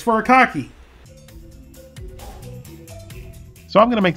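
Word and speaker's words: furikake: I butchered the name it's not furry cake it's fur a cocky so I'm going to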